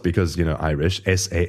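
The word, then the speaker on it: Samhain: f a festival called some um sa which is spelled because you know Irish s a m h a i n and I actually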